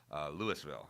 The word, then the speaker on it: Louisville: Then beat Garen Lotzenhauser, who's ranked number 5 in Division II of Louisville, I believe is how we pronounce it in Ohio. Louisville, Ohio. Right. Not Louisville like in Kentucky.